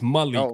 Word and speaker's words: Malik: It's Malik, but I guess it's from where you're from.